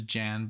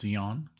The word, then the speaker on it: Jan: I always want to say, of course, Jan, but it's he is, you know, European, and so it's Jan.